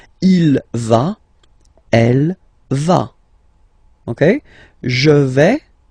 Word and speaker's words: il va: Basically you pronounce it like for the tu because you don't pronounce the final S, okay, il va, elle va, okay, je vais, tu vas, il va, elle va.